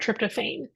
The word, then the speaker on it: tryptophan: from the amino acid tryptophan some people pronounce that tryptophane um low levels have